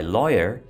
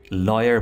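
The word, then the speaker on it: lawyer: माई लॉयर, इसको आपने लॉयर बोलना है. लायर और लॉयर डिफरेंट हैं प्रोनाउंस करने में, ठीक है. लायर मतलब झूठा और लॉयर लॉ.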